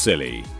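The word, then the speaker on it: Scilly: divided by an ocean isle of silly pronounced silly and netherlands are not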